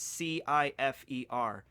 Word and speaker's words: Cifer: No, it's spelled with a C. Wait, what? Yeah, it's Cifer.